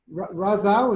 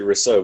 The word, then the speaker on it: Riso: ask your question uh Raza is that how you pronounced your name it's actually Riso but you can just